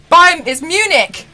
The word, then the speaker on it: Munich: Am I the only one here that does not know how to pronounce this word? I don't get it, Mel. It's Munich.